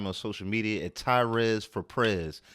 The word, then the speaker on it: Tyrez: uh two weeks uh well my name is tyres you can find me on social media at tyres for pre T RZ number four p r